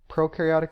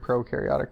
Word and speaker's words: prokaryotic: talk about the word procaryotic first though so Pro means before and carry means nucleus so before a nucleus or another way to think of it is pro rhymes with no so no nucleus this